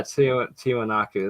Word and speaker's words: Tiwanaku: Tio taken Aqua cup yes sorry I cannot pronounce that but thank you Jay dreams yeah tiwanaku there we go yes uh shout out to